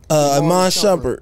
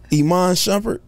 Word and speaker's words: Iman Shumpert: Iman Shumpert. He's... What? Say it again? Iman Shumpert.